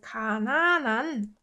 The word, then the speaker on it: 가난한: And if you say 가난한 사람, you notice that I pronounce it like 가난한.